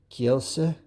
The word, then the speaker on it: Kielce: I think he said something about I got to start pronouncing the second bit here if I was doing it Polish wise. S. So Kielce?